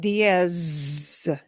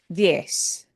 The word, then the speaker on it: diez: And notice that the Z at the end is not diez. No. It is diez. An Yes. S at the end, Yes. yeah. Zeta, the Z, makes an S sound.